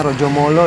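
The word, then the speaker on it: Rajamala: Ya, tentunya kita tahu ya maskot yang mungkin dibacanya Rojomolo ya. Tulisannya Raja Mala Raja ya, Bu Mala, ya?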